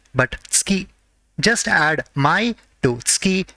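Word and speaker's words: つき: it is pronounced as ski it is not su ki ski just add mai to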